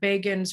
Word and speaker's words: Begin: they were talking about Begin's rise in 1977, and they said Begin rhymes with Fagin.